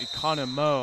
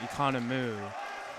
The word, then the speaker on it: Economo: And I think I've been saying his name wrong this whole time. It's Economo. I've been saying Economu.